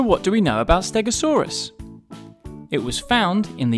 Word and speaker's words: Stegosaurus: today we're going to learn all about stegosaurus how do you say that again stare go saw russ can you say it with me stare go saw so what do we know about stegosaurus it was found in the united states and